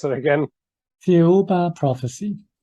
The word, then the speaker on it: Thiaoouba: And the book is called sorry, can you pronounce it again? Thiaoouba Prophecy. Thiaoouba Prophecy.